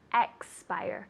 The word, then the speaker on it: expire: make sure you're putting lots of emphasis on x it's not spire it's x buyer two syllables expire very good okay keep